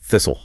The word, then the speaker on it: thistle: Whistle, wrestle, thistle, hustle, bustle, nestle, apostle.